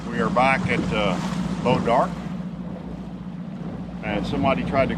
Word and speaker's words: Bois D'Arc: here we are we are back at uh bow dark and somebody tried to correct me and say it was Bose de AR and it is not it is Bod dark go look up the pronounce the pronunciation of b o i s